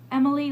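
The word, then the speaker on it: Emmaleigh: gonna name your child emily name her emily i know someone who named her their daughter e m m a l e i g h emily like emma then lay and i was when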